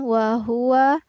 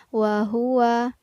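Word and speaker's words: وَهُوَ: al-mulk uh uh kemudian wah-wah menggunakan ha tebal bukan hate tipis bukan wah wah tapi wahuwa kemudian lafaz ola-ola menggunakan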